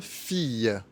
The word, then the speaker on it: fille: Quand un I est suivi de deux L, on prononce Y, comme dans une fille.